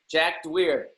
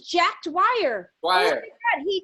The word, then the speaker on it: Dwyer: last name here but the winner is jack dweer oh his name is jack dwyer he wrote me he